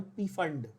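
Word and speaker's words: Pfund: नाउ the name actually is फंड, द पी is silent, but we call it पी फंड so that बच्चों को spelling याद रहे।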